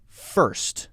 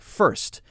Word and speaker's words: first: dust dust and then first very similar first now a lot of people struggle with this one because you have to jump from the R sound right into the s erse erse so your tongue is